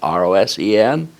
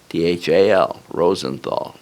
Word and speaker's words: Rosenthal: Rosenthal is spelled exactly like it sounds. Rosenthal, Rosenthal.